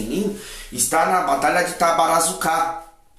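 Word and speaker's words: Tabaruzaka: está na batalha que tabarazucar ou tavarasaca né como às vezes ele também é chamada é o tabarossacar também é uma forma correta também de pronunciar Então essa esse ciclo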